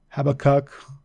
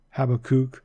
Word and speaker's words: Habakkuk: kind of throws people have a cook you know you can actually pronounce it any way that you'd like as far as that goes you can say have a cook have a kook Habakkuk you know how